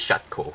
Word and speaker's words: Shokew: Shaco now despite how the English name which is which is spelled as SH o ke W the way how the Japanese anime pronounces and the Korean way how we pronounce it is shot Co so let's keep that